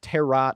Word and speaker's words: tarot: the tarot Mhm. card reading, because we call it tarot or like tarot, they pronounce the second T in tarot in this movie, and I think that's really funny.